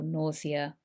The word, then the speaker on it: nausea: Think of an everyday word for that, and side effects, for example, nausea. Nausea is the pronunciation here.